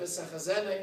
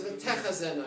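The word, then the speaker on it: וְתֶחֱזֶינָה: he pronounces a word, instead of v'sechazena inena, he says v'techazena inena. So what did he do wrong? He said a tough instead of a soft. But sechazena is a soft vision.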